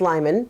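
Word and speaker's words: Liman: Secondly, the court in this case in particular, Judge Lyman, I think is how you say his name. I've been saying Leman for months now. Apparently, it's Lyman.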